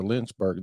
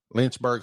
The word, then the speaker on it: Lynchburg: yeah you're also a guide at the the linzberg the haunted lynchburg house right yeah lynchburg's on his home lynchburg haunted home i was saying it wrong that